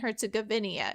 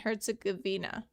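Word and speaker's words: Herzegovina: No, it's Herz Gavina. I I've been saying it wrong my whole life. It's not Bosnia and Herzoginia. It's Bosnia and Herzagavina.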